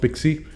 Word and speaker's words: PKCE: There is PKCE, which is pronounced Pixie, called proof of key code exchange.